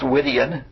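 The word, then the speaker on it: Gwydion: But at any rate, Guidian is I guess it would be pronounced Widian. The G is almost silent.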